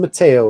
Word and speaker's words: Mateo: Mateo rhymes with mayo.